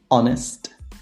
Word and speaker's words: honest: except for four cases there are only four words in which the age is silent and obviously that the words that are either compound or that come from these words and they are our honor honest heir and a good way